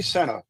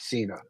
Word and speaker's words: Sena: are very very important she pronounces her last name Senna not Cena just so you know